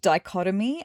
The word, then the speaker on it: dichotomy: It's actually pronounced dichotomy, and apparently it's a contrast between 2 things that are completely different.